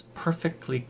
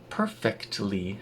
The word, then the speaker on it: perfectly: Now, perfectly has a t in it when it's written out, and if you're speaking very carefully, you would pronounce the t. Perfectly. But in rapid speech, that turns into perfectly. There's no t.